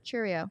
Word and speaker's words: Chourio: Chourio. Yeah. My pronunciations.